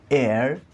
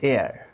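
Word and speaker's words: heir: উচ্চারণ হচ্ছে এয়ার, নট হিয়ার।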